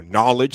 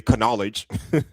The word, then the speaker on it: knowledge: Or knowledge. Same thing. You don't say can knowledge.